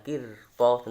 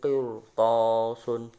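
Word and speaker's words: قِرْطَاسٌ: Contoh bacaannya qirtasun, bukan qirtasun tapi qirtasun, tebal. Qirtasun itu dibaca tafkhim.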